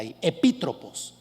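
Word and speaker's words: ἐπίτροπος: del griego epitropos epítrofos perdónenme lleva acento en la epítrofos y el término epitropos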